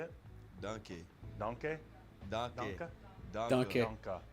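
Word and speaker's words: danke: Donkey. Donkey? Donkey. Donka? Donkey. Donka. That's Donka.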